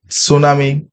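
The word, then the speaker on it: tsunami: ইউ এম ও এন আই এটা ঠিক আছে সুনামি একচুয়ালি কারেক্ট স্পেলিং না এখানে একচুয়ালি কোশ্চেনটা হবে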